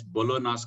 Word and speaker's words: Bologna: The most followed criteria is Bologna's criteria. G is silent there.